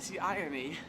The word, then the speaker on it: Seine: sun is the riverside seine and then there's s-c-e-m-e and they're both pronounced the same and it's a play-on